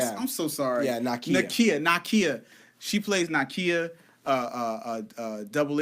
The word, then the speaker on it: Nakia: fact that Lupita Nyong'o rocks as her character, Nakai.